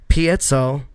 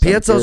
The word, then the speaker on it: piezo: Single coil, split coil, piezo, or all of these?